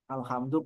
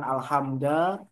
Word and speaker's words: alhamdu: Alhamdu pasti mubtada. Dan mubtada itu harus dibaca rafa. Makanya di sini dibacanya alhamdu rafaknya domah bukan alhamda atau alhamdi.